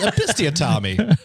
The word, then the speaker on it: episiotomy: I'll say it with my chest, episiotomy.